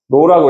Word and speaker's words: rho: RHO 뭐라고 읽어야 돼? H는 무음이니까로 알겠나요? 로라고 읽는 거야.